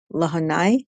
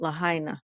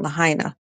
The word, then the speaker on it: Lahaina: we talked about that affluent city of Maui lahanai lot Lahaina excuse me I'm pronouncing it wrong Lahaina which um sustained significant damages from wildfires how